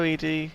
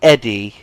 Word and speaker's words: Eddie: just hovers around hello Edie so he's just literally out outside people have said in the comments that it's actually Eddie it's not Edie all right NPCs in the game pronounce it Eddie including questions to talk